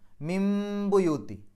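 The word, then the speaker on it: من بيوت: അവിടെ നൂനിന്റെ ശദ് മണിക്കുക മിംബുയൂത്തി ബാഇന്റെ മുമ്പ് സുക്കൂനുള്ള നൂന് വന്നു ബാന്റെ മുമ്പ് സുക്കൂനുള്ള നൂന് വന്നാൽ ആ സുക്കൂനുള്ള നൂനിനെ മീമിന്റെ ശബ്ദമാക്കി മാറ്റണം അപ്പൊ മിൻ എന്നുള്ളത് മിം എന്നാക്കി മാറ്റും അതിനെ ഇഖ്‌ലാബ് എന്നാണ് ആ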